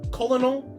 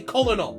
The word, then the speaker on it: colonel: Colonel. Like, you cannot look at this word and tell me that it doesn't say colonel.